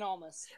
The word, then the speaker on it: Almas: Andrade Cien Almas.